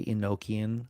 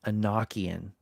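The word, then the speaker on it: Enochian: in in I prefer a lot of people say Ininoian. So I you'll often hear me say it pronounce it that way. But personally I think it should be in no uh sorry Anoian I think is the proper pronunciation of that because it's relating to Enoch and um this was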